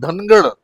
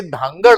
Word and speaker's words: धांगड: की धनगर समाज आणि धनगड धनगड नव्हे तर ते धांगड आहे.